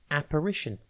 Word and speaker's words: apparition: Today's word is apparition. It is pronounced A-P-R-I-T-I-O-N, and it is spelt A-P-P-A-R-I-T-I-O-N. Think app, then AR, and then ition.